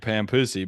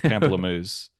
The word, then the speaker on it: pamplemousse: You're calling it pampussy, but I would say it's pamplemousse.